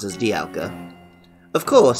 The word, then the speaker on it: Dialga: art Beats the name Dialga which sometimes I still pronounce as Dialga of course sounds a little like diamond the game for which it appeared on the box it also incorporates dials